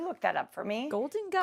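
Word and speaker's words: Golden Gai: Golden Guy. Golden Guy. And Guy is spelled G-A-I.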